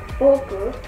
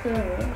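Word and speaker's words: 墨: So for example, for this boku, also can be pronounced as sumi, so they are the same meaning.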